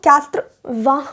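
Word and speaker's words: quatre-vingts: अब आ गया है हमारे पास 80 को हम क्यात्रवां बोलते हैं।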